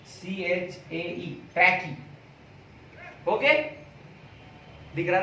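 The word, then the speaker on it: trachea: तक जो जाती है, ये ट्यूब को हम बोलते हैं ट्रैकी। देखो स्पेलिंग देखो, TRACHAE, ट्रैकी।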